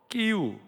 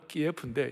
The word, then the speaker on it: 키이우: 수도 키이우, 전에 러시아식 발음은 키예프인데 이제 우리가 키이우로 하자고 그랬어요.